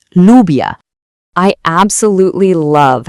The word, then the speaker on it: lluvia: When you see these two L's together, they basically team up to make one sound, and that sound is the y sound, just like in the word yes.